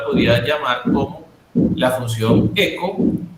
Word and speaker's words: echo: En este caso eco, como se pronuncia eco, ¿ya? Por eco, porque la H no suena, ¿sí? En el inglés la H no suena y nosotros pues pronunciaríamos hecho, pero en realidad se pronuncia eco.